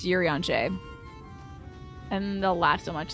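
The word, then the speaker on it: Urianger: Actually, it's pronounced Yuri on Jay.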